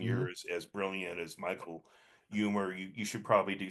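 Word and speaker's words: Huemer: philosopher Michael Hummer and humor humor humor and one of humor the H is not silent it's it's basically pronounced like someone who's funny humor like like the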